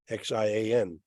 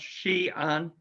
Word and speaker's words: Xi'an: with the name Xi'an, Xian. And since Xi'an sounds so much like Zion, it's certainly an intriguing possibility.